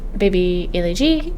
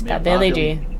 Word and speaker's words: Billy G: Baby G is wondering about. I just realized I've always pronounced their name wrong. It's Billy G.